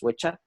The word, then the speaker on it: Wicca: It's not actually pronounced Wicca; it's pronounced witcha.